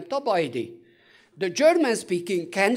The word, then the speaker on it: Tabajdi: I all the time they say I my name is tabashdi it is not the case I am top idea the German speaking can